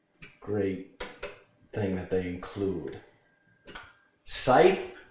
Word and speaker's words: Scythe: Scythe. That's how it's pronounced. Scythe. That's what they tell me. Okay, not Scythe. Scythe. It's not a dagger.